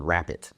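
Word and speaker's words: Rappit: And then another example I'll share is a company called Rapid. And Rapid is spelled R-A-P-P-I-T, and it's actually founded by Jan Baan, who founded Baan Software back in the 90s, if you remember that.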